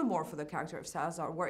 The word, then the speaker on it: Salazar: I went with a very thick Spanish accent, because it's Salazar.